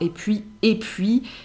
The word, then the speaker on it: et puis: Et puis. Et puis. Parfois prononcé « et puis ».